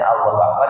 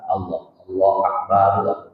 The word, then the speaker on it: Allahu Akbar: Dibacanya Allahu Akbar, jangan akbar. Allah Akbar.